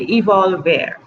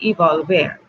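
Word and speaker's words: evolvere: era you've evolved era let me spell it because I don't want to say it wrong Latin Evo lver II evolved there yes that's what I want to say evolve there that's what I want to say evolve air which means to unroll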